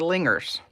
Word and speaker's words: Lingers: They are half-linger ponies, and we always call them our lingers, without a hard G.